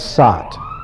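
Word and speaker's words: सत्: In Sanskrit, if you wish to talk about being, the word for being is sat. Sat. Sat is phonetically very close to sad.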